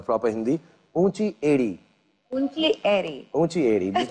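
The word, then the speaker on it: ऊँची एड़ी: Unchi edi.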